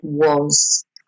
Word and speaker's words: was: Notice the was is spelt with an A, but you actually pronounce it like an O sound, was.